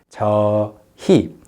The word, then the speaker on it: 저희: So you write it as 저 and 희, but you only pronounce it as 저희. You don't say 저희. It's too effortful. So 저희. So many people also pronounce the word with the 히읗 part weakened, 저희.